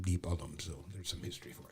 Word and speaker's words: Deep Ellum: ethnically generated word because it was Deep Elm, ELM. But the way the people that lived there pronounced it, it was Ullum. So that's how it got its name, Deep Ellum.